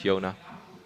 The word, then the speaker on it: Jona: But it's more just like, if a Dutch person would read his name, you read it as Jona.